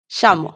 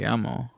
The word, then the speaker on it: llamo: Shamo.